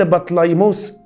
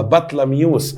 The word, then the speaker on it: بطليموس: كليوباترا رقم 7 دي بنت بطليموس الزمار. الزمار لما اتكل على الله ساب كليوباترا، اخوها بطليموس ال13، اخوها بطلميوس ال14. احنا اتفقنا ننطقها بطليموس او بطلميوس، اخد راحتي بقى.